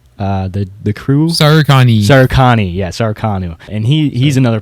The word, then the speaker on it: SARUKANI: He's a part of, I don't want to mispronounce it, Sakaruno? The crew? Sarukani, yeah, Sarukanu.